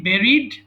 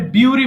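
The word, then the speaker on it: bury: কি হবে আচ্ছা বেরি বেরিড বেরিড আচ্ছা এটা অনেকে ভুল করে বিউরি বলে বিউরি না কিন্তু হ্যাঁ বেরি হবে আচ্ছা এই ওয়ার্ডগুলো যদিও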